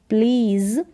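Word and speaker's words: please: फिर आगे है कि प्लीज़, मतलब यहाँ पर भी ए को हम बड़ी के रूप में पढ़ेंगे, इसको प्लीज़ नहीं पढ़ेंगे, प्लीज़ ज का साउंड आएगा लास्ट में एस के लिए। प्लीज़ क्या है, प्लीज़ ई का उच्चारण एंड में नहीं होता, प्लीज़ से मतलब कहो या बोलो।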